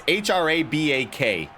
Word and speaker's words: Hraback: Stopped early right there by KindaFunny best friend CJ Hraback, which I'm not sure how to pronounce his name, Dynamite. It's Hraback or Hraback. It's Hraback. I've never seen a name spelled like that before.